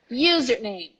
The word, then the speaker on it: username: okay next one 31 username username the stress is on the you username username username username